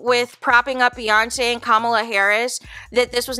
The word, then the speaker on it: Kamala: The teleprompter said, comma, as in like a comma after, you know, a point in a sentence or whatever, to pronounce Kamala.